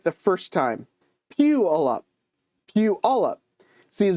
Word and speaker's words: Puyallup: Really, it's pronounced Puyallup. Puyallup.